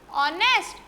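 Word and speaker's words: honest: हमने देखा इसमें एच साइलेंट है, ओ आ रहा है, क्योंकि मैम ने बताया था आर ऑनेस्ट, इनमें आंख बंद करके क्या लगा देना, एन।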